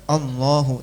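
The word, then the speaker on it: الله: Termasuk lafadz Allah, harokatnya kalau mushaf Timur Tengah ya, itu cuma seret gitu aja, lafadz Allah. Tapi bacanya tetap Allahu, tetap dibaca panjang.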